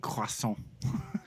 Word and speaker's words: croissant: Yo, Varner, there's 2 S's in croissant. Croissant. Croissant. Emphasize the croix.